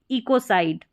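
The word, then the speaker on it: ecocide: अब इस CID को आप सिड भी पढ़ सकते हैं, ठीक है, ये साइड पढ़ा जाएगा। अब आप इसको काइड भी पढ़ सकते हैं, अगर सी को आप क पढ़ते हैं तो कब स और क पढ़ा जाता है, तो इसके आप नियम ज़रूर देख लें। तो इसको आप पढ़ेंगे इकोसाइड, इकोसाइड, तो इस तरीके से।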